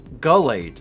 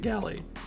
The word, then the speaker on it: Gallade: My name is pronounced Gullade, by the way. I've always pronounced it Gallade.